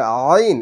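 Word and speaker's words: ع: এর কোন শীষ যেন না আসে তাহলে জী আইন আইন হচ্ছে গলার মাঝখানে চাপ দিয়ে উচ্চারণ করতে হয় গলার মাঝখান থেকে উচ্চারণ হয় তাহলে আইন এটা পাতলা হরফ সমস্যা নাই তাহলে আইন জবর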